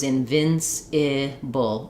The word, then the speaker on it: invincible: It does really matter if I get this vowel correct. If I'm saying it as an E, for example, invincible, it's going to sound very accented.